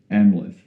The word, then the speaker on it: Amleth: Simba and, I'm not going to try and pronounce the name. Amleth. Say that again for me one more time. Say it one more time. Amleth.